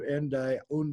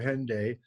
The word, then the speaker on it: Hendaye: of the central message of the Cross of Hendaye, or Hendaye, whichever way you want to pronounce it, kind of got lost in the shuffle.